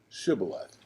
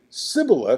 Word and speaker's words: shibboleth: don't need a passport just say shibboleth which means river and they would say sybil because they couldn't pronounce it and that means burden